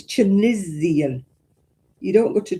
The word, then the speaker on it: Tunisian: It's not got ease in the middle of it. It's got an I. It's chisian.